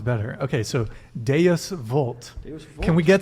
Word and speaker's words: Deus vult: So you speaking don't of Latin, Deus Vult. Deus vult. Deus- Don't pronounce it. All the moderns want to do it the German way, but you got to do it like a good Italian.